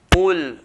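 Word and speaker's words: قُلْ: offers from the evelators we're going to pronounce the coffin heavy weight so all pull heavy heavy weight but by putting pressure on the roof of the mouth oh oh oh pull and not cool if I say cool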